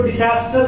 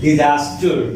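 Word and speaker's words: disaster: जब बोलते हो ना इसको डिजास्टर नहीं बोला करो। ये एस है ना, इसका जॉ के नीचे नुक्ता लगा दो, मतलब जेड का जो प्रोनाउंसिएशन होता है डिजास्टर, डिजास्टर, डिजास्टर, डिजास्ट्रस, ऐसा प्रोनाउंसिएशन करो।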